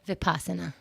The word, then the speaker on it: Vipassana: Vipassana, how do you pronounce it? Vipassana.